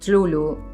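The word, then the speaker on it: Cthulhu: llamada de Tlulu, y lo pronuncio así porque gran parte de la eh cosa de Lovecraft son estas palabras que no se pueden pronunciar porque no estarían hechas para ser pronunciadas por un ser humano, básicamente.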